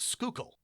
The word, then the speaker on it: Schuylkill: All right, the other one, so this word is spelled Schuykill, and it's pronounced Schuylkill. The Schuylkill. Schuylkill, or Schuylkill. The OO is pronounced like you would with food or ooze, so Schuylkill.